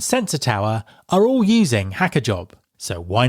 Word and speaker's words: hackajob: Support for this podcast is provided by HackerJob, a reverse marketplace that actively vets engineers.